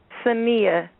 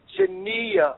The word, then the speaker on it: Saniyyah: it first of all excuse me for getting your first name wrong tell the people out there your first name samia shania right yes yes okay shania tell